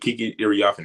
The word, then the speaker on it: Kiki Iriafen: It took me a while to figure out how to pronounce her name, but Kiki Iriafen, I really like what she did in her rookie year.